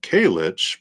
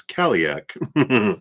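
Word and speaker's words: Cailleach: You got uh Kaich, protector of the wild, coming in here. Yeah. Yeah. I agree. So this is in Irish and Scottish folklore. The uh oh sorry it's Kak mispronounced it is the divine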